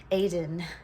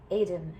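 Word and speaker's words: Étaín: one particular deity it Aiden I just pronounced her the way she spelt and that was a mistake Aiden she is um a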